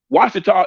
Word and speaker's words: Ouachita: give an example of Ouachita Washita is spelled the way the French was spelled Ouachita so we sided